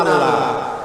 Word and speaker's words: আল্লাহ: আল্লাহ এই উচ্চারণটা আমাদের অনেকের হয় না, কেউ বলে না আল্লাহ।